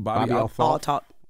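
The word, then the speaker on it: Althoff: and you had some words about his interview with, how you pronounce his name? Bobby Altoff.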